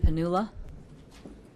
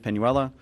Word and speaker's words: Penuela: Panula. Very close. I also pronounce it wrong too, so it's fine. All right, my name is Penuela.